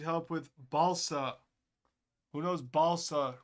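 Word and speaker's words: Balša: with Balsa who knows Balsa rhymes with salsa how many concurrents do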